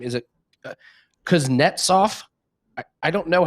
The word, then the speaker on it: Kuznetsov: Is it Kuznetsov? I don't know how to pronounce it. Yeah, you got that. Kuznetsov. Kuznetsov, you got it right.